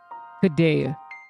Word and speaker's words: Kadea: Kadea, spelled and pronounced like the vegan cheese.